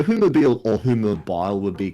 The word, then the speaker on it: Whomobile: think so so yeah sometimes people pronounce it one mobile which is weird because it like gets rid of the Haitian ads and extra M next to the other in weird also it's so humobile or whom mobile would